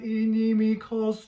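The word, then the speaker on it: inimicos: Donec ponam inimikos tuos. And follow the some of the accents. So there is a bit of an accent on the ni. Inimikos, and also the tu. Tuos.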